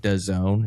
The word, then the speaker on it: DAZN: dumbest thing ever, where it's DAZN and you pronounce it DAZN.